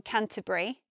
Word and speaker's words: Canterbury: I went to university in Canterbury. I say it like that with three syllables, but some people might say Canterbury, Canterbury.